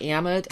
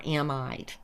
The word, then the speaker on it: amide: Also, just so you know, some people pronounce the word amid as amid or amide.